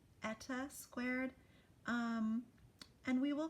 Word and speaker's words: eta: Also note that we check the N squared box which is actually pronounced eta squared.